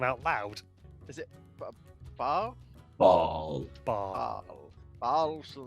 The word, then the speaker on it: Baal: Mike is pronounced Baal.